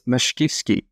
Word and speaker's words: Mashkivskyy: It's Mashkivskyy.